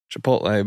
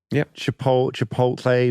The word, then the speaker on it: Chipotle: Bit of feedback about how you pronounced Chipotle versus Chipotle. I sometimes gloss over the T. The T scares me.